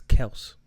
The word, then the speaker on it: Kelce: It's Kels.